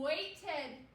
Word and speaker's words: waited: What's the sound at the end? Waited. Waited. I waited in line. What sound do you hear? We hear the ed sound.